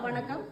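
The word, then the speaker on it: வணக்கம்: Voilà, on commence par Vanakam. Est-ce que je le prononce bien?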